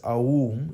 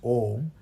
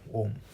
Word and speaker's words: Om: Of course, it's not pronounced as Aum, it's pronounced as Om, because A and U, when you say it together, it becomes O, right? That's the diphthong, O, Om.